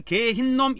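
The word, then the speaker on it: גיא הנום: 그니까 우리나라 말로는 흰의 골짜기고 이거 히브리 말로 말할 때는 개흰놈 그럽니다. 개흰 개흰 그래요. 이거를 개흰놈 이렇게 발음합니다. 개흰놈.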